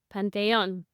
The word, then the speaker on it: Panthéon: on that or it's The Penton and a dates 1756 to 97 it's the same name but you just pronounce it with a French inflection Pon and this is his take